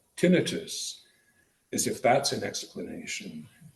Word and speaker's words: tinnitus: Now I accent the first syllable, call it tinnitus, as if that's an explanation.